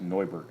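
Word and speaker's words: Neubert: like a new book in German it's actually pronounced no Bert I had a teacher in high school I had to argue with to insist that my name was nubert because that's how we always pronounced it but apparently in Germany it's pronounced annoyed he would not accept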